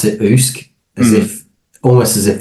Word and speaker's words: OOSC: fan favor that's awesome it's funny because we pronounce it usk as if almost as if the sea was